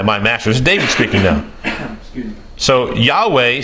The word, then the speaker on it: Yahweh: yhw H was Yahweh so I pronounced in English is Yahweh I don't want the